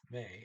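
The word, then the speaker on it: med: ah well he says he says ah ah the teacher comes with may m e d the db silent kona means wife see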